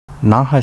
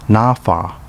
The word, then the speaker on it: Naha: naha city pronounced nafa in uchinanguchi is the capital of